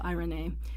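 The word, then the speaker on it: εἰρήνη: peace the Greek word for this word is AI Renee looks like Irene but it's pronounced I Renee now this is the Greek Greek equivalent to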